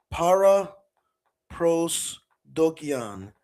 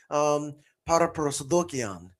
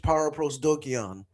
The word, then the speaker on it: paraprosdokian: It's called para prosdokian. That's how you'd say it in English. With the Greek pronunciation that I use, I'm a Greek professor. Para prosdokian. But in English, para prosdokian.